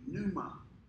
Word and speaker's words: pneuma: the greek word is pneuma it starts with a silent p pneuma it's where we get